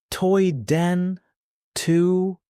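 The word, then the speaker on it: Tôi đến từ: Toy den tu pronounced toy den to This means I come from Paul Cook Toy Den to my we Den who Vietnam Try it.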